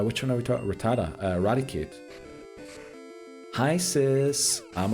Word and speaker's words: Rattata: Rattata, not Rattata. That's how Ghost used to pronounce the name.